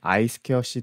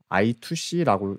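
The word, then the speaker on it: I²C: 이번 시간에는 아이스케어씨 통신에 대해서 살펴볼게요. 읽을 때 이제 아이스케어씨라고 읽는게 이제 공식적으로 이제 읽는 방법이고 I2C라고 실무해서 읽기도 합니다.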